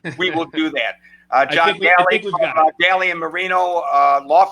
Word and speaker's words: Dalli: It's Daly, John Daly, not John Dolly.